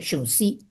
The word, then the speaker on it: Sun Tzu: No se escribe así, se escribe Sun Tzu con Z, pero se pronuncia Sun Tzu.